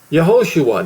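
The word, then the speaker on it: Yahoshua: Yahosua, not Jesus. And I'm I'm I'm afraid I'm going to miss some things that it's there is the pronunciation Yahosua. That's the Hebrew.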